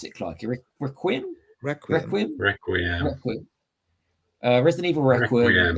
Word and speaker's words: Requiem: Requiem. Resident Evil Requiem. It's from the Greek Requiem, as well as 7 and Village is coming.